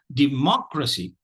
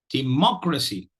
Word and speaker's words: democracy: So democracy, democracy, democracy. So we've again seen a 4-syllable word which carries the primary stress on the 2nd syllable.